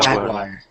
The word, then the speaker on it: jaguar: Jaguar. Yeah. Jaguar. Yeah. So think of it like Jag, and then wire, Wire. Jaguar. Jaguar.